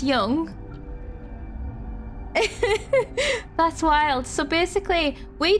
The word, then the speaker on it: Jung: as the collective unconscious is that the same thing pronounced Young that's wild so basically